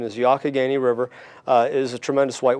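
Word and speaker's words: Youghiogheny: it's sort of a challenging spelling but the pronunciation is yaka Gainey river is a tremendous white water resource one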